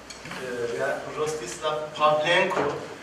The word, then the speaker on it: Rostyslav Pavlenko: Rostyslav Pavlenko. Sometimes the pronunciation becomes difficult, that's why but you did it right.